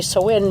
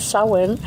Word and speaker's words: Samhain: And it's spelled Samhain. So when I say Samhain, maybe people aren't going to connect it with the word that they've read.